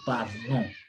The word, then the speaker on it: parlons: The nasal sound, nasal vowel from the nose, nous parlons, not nous parlons. We say nous parlons.